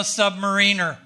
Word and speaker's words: submariner: That's when I joined the Navy to become a submariner. And yes, that's how you pronounce that word.